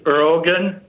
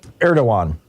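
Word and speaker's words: Erdoğan: to there's a the president of Turkey is erogen erdogan is how it's pronounced 31 yeah holding us up in uh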